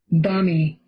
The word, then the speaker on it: balmy: So we don't really pronounce the L too much. Balmy. So let's listen to it one more time. Balmy. Balmy. And there's the bold right there tells you it's stressed on the ba.